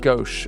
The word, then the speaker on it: gouache: I pronounce it gouache, a gouache brush. It sounds French. It sounds elegant.